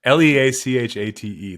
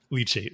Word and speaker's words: leachate: We really We really should have looked up the pronunciation on that. l e a c h l e a c h a t e leachate Wow.